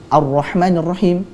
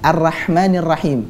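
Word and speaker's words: الرحمن الرحيم: mengamalkan ilmu Tajwid adalah ketika orang membaca arrohmanirrohim harusnya dengan menebalkan rok kemudian Dia membacanya dengan arrahmanirrahim dengan tipis tentu ini adalah Novi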